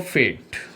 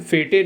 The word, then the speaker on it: fete: चलिए friends, next word की बात करते हैं, फेट, FETE, फेट। और एक तो इसका प्रोनाउंसिएशन फेटे नहीं होता, फेट होता है, और इसको आप कहते हैं मेला, किसी मेले को।